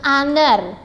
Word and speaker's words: honor: and then an honest person, an honor, ya.